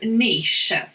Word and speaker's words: niche: use these words and they call it niche it's not niche it's niche okay it's niche niche it's spelt like